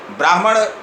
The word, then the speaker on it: ब्राह्मण: जैसे शब्द है ब्राह्मण। ब्राह्मण उच्चारण हम करते हैं तो पहले ह का उच्चारण होता है, अर्ध ह का, उसके बाद म का उच्चारण होता है।